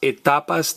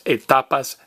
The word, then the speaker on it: etapas: Now, the stages of life are las etapas de vida. I am going to talk to my pa about the stages of life. Get it? There's the word T-A, ta, and the letters P-A, pa.